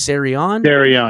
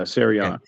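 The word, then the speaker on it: Siran: can't say his name it's Ser well it's s i an so it's serion yeah serion serion Neil um I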